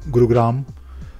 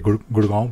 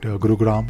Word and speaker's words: Gurugram: to the eighth group gurugram I'm still trying to pronounce this name because I'm used to say gurgaon but gurugram gurugram yes and NCR basically meet